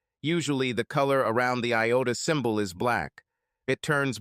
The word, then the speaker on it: iota: laughed and said dude is the Greek letter Iota and is usually pronounced Iota Vic continue to inform